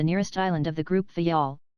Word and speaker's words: Fayal: island of the group fayal the people there pronounce it faial and put the accent on the first syllable we anchored in the